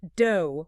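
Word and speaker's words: 道: But do, which is the Japanese pronunciation of the Chinese character Dao, means something completely different.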